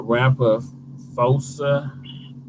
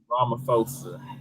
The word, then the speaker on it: Ramaphosa: and poverty south african president cyril uh uh rapper fosa i can't pronounce his name right oh ramaphosa uh told the gathering via video so then